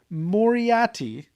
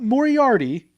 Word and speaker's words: Moriati: name of the band it's moriatti not moriarty there's no second r it's moriati m-o-r-i-a-t-y moriatti moriadi i think that's how you pronounce it i will don't worry maybe i'm just gonna say it's like moriarty without the extra r so moriotti so it